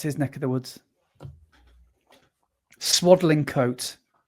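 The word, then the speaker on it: Swadlincote: Swaddling coat. Is that how you say it? Swaddling cut. Cut coat. No, it's swaddling coat.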